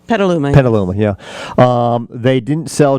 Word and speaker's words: Petaluma: How do you pronounce it? Petaluma? Petaluma.